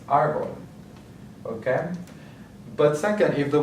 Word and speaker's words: árbol: And then the next one is árbol or tree. So we have the accent mark on the first syllable, so that's what we're going to emphasize, árbol.